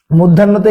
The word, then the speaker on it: মধ্যাহ্ন: ধয়ে জফলা যদি থাকে, শব্দের বানানে যদি ধয়ে জফলা থাকে তাহলে উচ্চারণে হয় দয়ে হস ধয়ের মতো। উচ্চারণে কি হয়, দয়ে হস ধয়ের মতো হয়। তো দেখেন এই মধ্যাহ্ন বানানটাতে দেখেন, মধ্যাহ্নতে এখানে কি ধয়ে জফলা আছে, মধ্যাহ্নতে ধয়ে জফলা থাকার কারণে দেখেন এখানে কি হচ্ছে মধ্যাহ্ন।